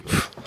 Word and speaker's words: Joep: it's Joep, actually. Joep.